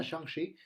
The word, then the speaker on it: Shang-Chi: Lo pronuncio así porque así escuché que lo pronuncia Kevin Feige, no es porque sea especial, sino porque así lo dicen las entrevistas y quiero pensar que el productor de Marvel sabe cómo se pronuncian los héroes.